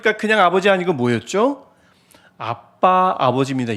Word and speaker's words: 아빠: 그냥 아버지 아니고 뭐였죠 아빠 아버지입니다 옛날에 우리가 아바 아버지라고 배웠는데 어 정확하게 발음하면 아빠가 맞습니다 그래서 개혁 계정부터 아바가